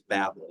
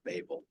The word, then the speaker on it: Babel: the Tower of Babel, or Babel, as the professors pronounce it. When you get in and actually research it, and you listen to people who are talking about the Tower of Babel, it is Babel, not Babel.